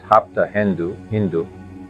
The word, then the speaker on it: Hapta Hindu: The ancient homeland of the Aryans, pronounced Hapta Hindu instead of Sapta Sindhu.